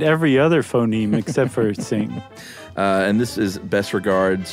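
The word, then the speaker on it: Qing: trouble pronouncing q-i-n-g Dynasty Q may be roughly pronounced as TS so not exactly the same so just say sing next time that would do I I didn't I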